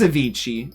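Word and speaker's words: Avicii: Ainci or I think it's I think it's Avichi is how they pronounce his name.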